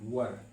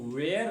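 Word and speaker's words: were: वर इसको अगर शुद्ध उच्चारण इसका किया जाए तो इसको वेयर नहीं पढ़ के वर पढ़ते हैं।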